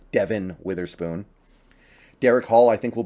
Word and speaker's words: Devin Witherspoon: help by the way it's it's Devin Witherspoon I know I sometimes say Devon because that's how it's spelled but Devin Witherspoon Derek Hall I think